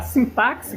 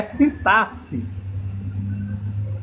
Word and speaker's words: sintaxe: Não se pronuncia assim, por mais que eu queira pronunciar sintaxe, que eu acho muito mais bonito, é sintaxe.